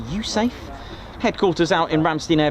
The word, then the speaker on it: USAFE: Here's a United States Air Force in Europe base, pronounced USAFE.